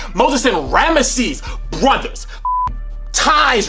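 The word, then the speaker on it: Rameses: We have Moses and Rammeses. You got to say, you got to say all three syllables. You can't say Ramsey's. It's Rammeses. Moses and Ramisees brothers.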